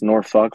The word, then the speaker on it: Norfolk: my career in Norfolk it's Norfolk Virginia that's how they say it um and started